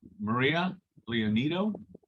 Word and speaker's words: Maria Leonido: okay we have uh Maria leonido did I say that right hopefully foreign good evening everyone yes Mr Ray yes you did say it right thank you great um